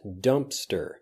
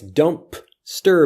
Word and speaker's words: Dumpster: but it basically disappears dumpster dumpster dumpster often when we don't say the sound of a letter in a word we still leave that slight pause dumpster dumpster dumpster dumpster